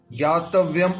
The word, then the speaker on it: ज्ञातव्यम्: ज्ञ नहीं बोलते एक्चुअल में, इसको अज्ञ बोलते, अज्ञ, ज्ञातव्यम। एक्चुअल में ये ज्ञ नहीं होता है, वो परफेक्ट उच्चारण हम हिंदी में जो सीखे हैं वो ज्ञ बोल देते हैं इसको, बाकी एक्चुअल संस्कृत के अनुसार ये अज्ञ है, अज्ञ, ज्ञातव्यम।